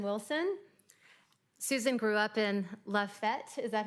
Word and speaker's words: Lafayette: Susan grew up in Lafayette, is that how you pronounce it?